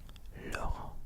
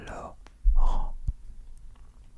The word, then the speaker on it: Laurent: Laurent. Laurent.